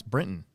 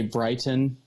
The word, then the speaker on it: Brinton: How do you mispronounce Brinton? I don't know. Like, they'll say Brighton, but I could see that.